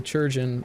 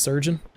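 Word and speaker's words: chirurgeon: churchian or surgeon uh someone pointed out this in one of my other streams that churjan is actually just pronounced surgeon it that it's just an old-timey spelling of the word surgeon but uh i'm imagining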